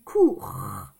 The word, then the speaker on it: cours: Moi, j'ai dit cours. On entend le R. Et ici, il y a un S, mais le S, on ne l'entend pas.